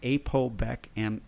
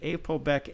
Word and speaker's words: APOBEC: There are special enzymes in your cells that are called ApoBec enzymes. That's spelled APOBEC.